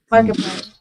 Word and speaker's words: Markiplier: Markiplier.